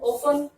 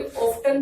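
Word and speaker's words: often: ऑफन, इसको कई ऑफ्टन भी बोल देते हैं और ऑफन भी बोल देते हैं। जो आपको अच्छा लगे वो प्रोनाउंसिएशन आप कर सकते हैं, क्योंकि ऑफ्टन भी बोलते हैं और ऑफन भी ठीक होता है, लेकिन ऑफन ज्यादा अच्छा लगता है।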